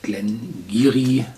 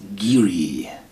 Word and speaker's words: Glen Garioch: Und zwar den Glengarry mit 12 Jahren Alter. Achtung, schreibt sich Glengarioch, aber im Aberdeenshire Dialekt, dem alten gälischen Aberdeenshire Dialekt, spricht sich das Geary aus.